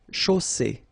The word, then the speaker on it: chaussée: And then you get the double S between two vowels, so it's really strong. I mean, the S is s. Okay, so une chaussée.